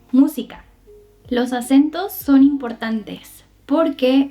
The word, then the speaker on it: música: El acento está en la primer sílaba. Entonces diremos música, no música, tampoco música, es música.